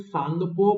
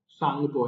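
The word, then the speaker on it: Tsangpo: बोला जाता है और यहां पे सांगपो बोलते हैं टी साइलेंट है यहां पर तो प्रशांत को मत बोल देना सांगपो है ये टी यहां पे साइलेंट है ये इस तरीके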